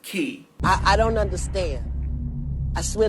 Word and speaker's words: Quay: It's spelled Quay, but it's pronounced Key.